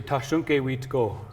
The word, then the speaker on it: Thasunke Witko: So in our language, we say Tashunke Witko.